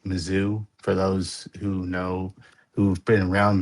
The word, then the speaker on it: Mizzou: Mizzou. Mizzou. how I've always Some said people it. pronounce it differently. It's either Mizzou as in MISS, but it's actually MIZZ.